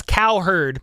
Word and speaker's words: Cowherd: go calling coward yeah it's cow herd but I I kind of pronounce it coward sometimes weren't gonna need